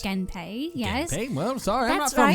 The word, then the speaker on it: Genpei: Genpei, yes.